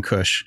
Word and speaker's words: Kush: and we call him Kush. Yeah. So we didn't know that. Now he's he's happy. Happy. Happy. It's not K-U-S-H. I think it's K-U, it's phonetically, K, like O-O-S-H. Yeah, phonetically the same, but yeah, Happy Mountain.